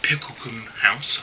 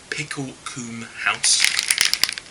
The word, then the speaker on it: Picklecoombe House: good people over at picklum house I hope I'm pronouncing that right I'll say it again pickle Kum house if that helps who I understand are